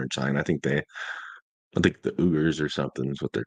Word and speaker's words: Uyghurs: I think the Uyghurs or something is what they're called. But yeah. Uyghurs. Mm, It's okay. spelled Uyghurs, but it's pronounced Uyghurs.